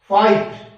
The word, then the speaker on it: fight: जैसे HIGH हाई, आप GH को मत बोले, HI का मतलब हाई, इसको ऐसे प्रोनाउंसिएशन करना है। FIGHT फाइट।